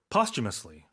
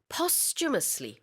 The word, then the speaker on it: posthumously: posthumously 이렇게 발음을 합니다. Yeah, there's a CH in there.